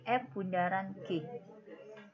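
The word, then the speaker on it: f∘g: Ya, bacanya nggak boleh fog, nggak boleh. Tapi F bundaran G.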